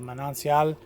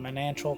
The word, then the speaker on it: manancial: housekeeper is my manal it's called a manancial but I call it manal because that's the way it's spelled and I'm a gringo and people make fun of me but yeah the